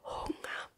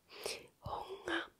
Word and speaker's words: Hunger: it down like that, you just say it like an A at the end. Hunger. Hunger. And you're also kind of just don't like pronounce the G correctly. You're just gonna let it flow and say Hunger. That is how you say Hunger in German.